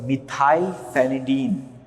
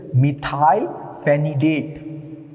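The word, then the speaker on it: methylphenidate: So one of the agent is called as the methile phenadine. Okay I'm not pronouncing is correct. It is methile phenidate.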